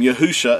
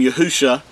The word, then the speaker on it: Yahusha: the the Messi's name yahusha this is uh the Paleo Hebrew and Hebrew reads from uh left to right the first three letters uh are pronounced as Yahoo and the last two